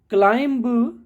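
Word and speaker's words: climb: थम कॉम ऐसे ही क्लाइम क्लाइम ऐसे नहीं बोलना क्लाइम जब आप बोलेंगे तो आपके बोलने के तरीके में बी नहीं आएगा क्लाइम बोलते हैं चढ़ना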